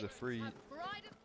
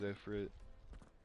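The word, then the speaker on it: Ifrit: English is efreet. American is efrit.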